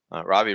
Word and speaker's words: Ravi: My first name is easy to pronounce, Ravi. Last name is Kashyap. And I also like to say, if you ever had ravioli the food, you cannot mispronounce my name.